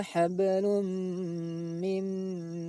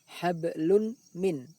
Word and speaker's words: hablum min: Cara membacanya tidak boleh dibaca jelas hablun min. Akan tapi bunyi tanwin tersebut dimasukkan ke dalam bunyi mim sambil didengungkan. Hablum min.